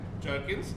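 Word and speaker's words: gherkins: तो ये आपके लिए जी, अगर आपको नहीं पता तो इसको कहते हैं जर्किन्स, जबकि स्पेलिंग GH होते हैं, और जो एलपिनोस है उसके स्पेलिंग J से होते हैं, बट इट इज कॉल्ड एलपिनोस।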